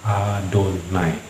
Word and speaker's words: Adonai: Oke, nah jadi menurut etika membacanya memang kita harus mengikuti aturan itu, yaitu kalau ada 4 huruf konsonan ini, yaitu Yod, He, Pav, He, Yod, He, Pav, He, kita dianjurkan untuk membacanya menjadi Adonai.